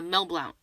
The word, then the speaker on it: Mel Blount: okay yeah that's fair oh i forgot uh mel blount all right that's that's how you pronounce the name yeah that's right the man